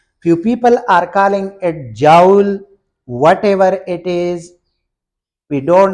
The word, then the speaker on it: joule: term so very technically our teacher in the University told us that this is Jewel not Joel but whatever you are